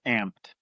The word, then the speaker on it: Amped: Is that how you pronounce it? It's amped.